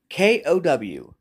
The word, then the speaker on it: kowtow: a word of the day cow towel okay k-o-w-t-o-w it's pronounced kowtow i've heard everyone know everyone's saying